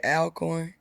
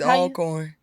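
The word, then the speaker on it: Alcorn: your ass if they heard you say Al corn it's all corn who says that we do that must be a southern thing huh it's called alorn no it's not that's cuz it's not spelled like that right it's not you would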